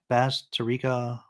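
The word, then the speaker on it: Bazterrica: How do you pronounce her name? Basterica Augustina.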